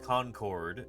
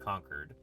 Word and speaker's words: Concord: This is a tapier tooth that was found in Conquered, California. Uh, not Concord. It's pronounced Conquered.